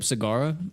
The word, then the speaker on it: Sagara: And I'm hoping to pick up Sagara on the way.